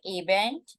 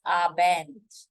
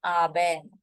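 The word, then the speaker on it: Abend: called as hen aent guten it is not aent it is abent make sure you're pronouncing it correctly guten abent goodnight is called as scoter KN hoter KN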